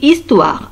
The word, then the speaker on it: histoire: Regardez ici, histoire. H ne se prononce pas.